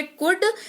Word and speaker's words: could: बात यह है कि कुड में एल जो है वो साइलेंट रहता है, तो आपको इस बात का ख्याल रखना है। कुड को पढ़ते वक्त एल साइलेंट रहेगा, लेकिन लिखते वक्त एल काम करेगा।